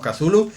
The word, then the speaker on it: Cthulhu: queremos que nadie nos llamaremos cazulo que es como se dice de forma así que la mayoría de aceptación de la palabra que está la forma que vamos a pronunciar y dicho esto pues